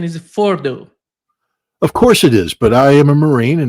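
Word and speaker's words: Fordow: Um, Feros, um, Ferdos is an underground facility, but originally Ferdos was part of a series of evacuation sites created by the by the Iranians.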